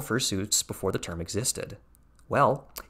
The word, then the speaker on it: fursuit: Notice the pronunciation, fursuit. It's a pun on pursuit, like you're seeking out something because you're seeking out information on fur things.